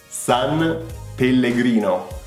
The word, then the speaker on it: San Pellegrino: But we pronounce it San Pellegrino.